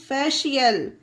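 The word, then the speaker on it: facial: इसे क्या पढ़ेंगे फ्रेंड्स फेशियल रूल क्या था कि जब वर्ड में सी के बाद ई आई वाई हो तो उसका उच्चारण सी का श होता है सी के बाद आई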